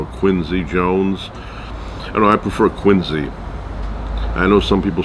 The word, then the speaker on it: Quincy: I know some people say quiny but I like quiny it's just the way I like it now if I if I ever met him and he said that's not the way uh I pronounce my name it's it's Quincy I will call him Quincy but the way I grew up it was quiny no relation to quiny